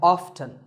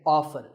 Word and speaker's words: often: next up is often some pronounce this as often now strictly speaking often is not wrong but the more common pronunciation is with the T silent so I recommend that you always say often one word that's often